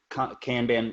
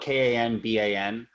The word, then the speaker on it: Kanban: one right here so I use one called cambian it's spelled kan ba n Kanban flow and here's just an example where